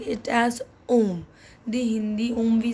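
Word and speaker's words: homme: we did now that H is silent so that's why we are not pronouncing it as home we are pronouncing it as om the Hindi om we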